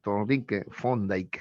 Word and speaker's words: Thorndike: Así, Thorndike se pronuncia, ¿ya?